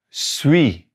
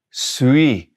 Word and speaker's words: suis: Je suis, not saying that S at the end, consonant at the end, we're not going to pronounce it.